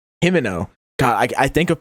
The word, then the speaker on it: Himino: Himino. God, I I think of Pimento. I'm like, okay, what what rhymes with Pimento? Himino.